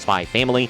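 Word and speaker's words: Spy × Family: the top of my head because they're actually pronounced spy family and Hunter Hunter the x is silent maybe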